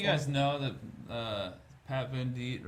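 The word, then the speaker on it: Venditte: Some of you guys know that uh Pat Van Deit, right? That's how you pronounce his last name.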